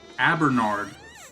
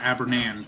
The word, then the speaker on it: Abernard: Oh, I've been saying it wrong. Abernard, not Abernan.